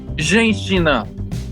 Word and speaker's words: Женщина: It is woman in Russian, but you want to know how that's pronounced? How? Женщина.